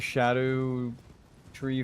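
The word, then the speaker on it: Scadutree: I think this is another shadow tree fragment. Shadow tree. For anyone wondering why I pronounce it like that, it is a Old English word and spelling of shadow, where the word shadow originates from, which ties it into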